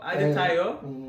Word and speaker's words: Adetayo: Adetayo. That's the name. Adetayo. But they kind of make accents.